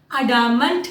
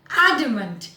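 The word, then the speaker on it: adamant: Again ध्यान दीजिए उच्चारण पे, अडामंट नहीं है, एडमेंट.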